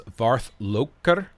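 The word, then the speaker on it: varðlokkur: So this fourth letter here is called eth, and it's pronounced like a th. So this is Varthloker. You roll R's in Icelandic, so I assume Old Norse is very similar to Old Icelandic, so that's the best I could pronounce this.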